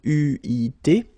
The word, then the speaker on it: eu: Okay, but you will have to pronounce it u.